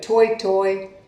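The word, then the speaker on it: toetoe: grass in new zealand pronounced toy but the proper spelling is t.o.e so toy toy or t.o.e toy toy the toy toy was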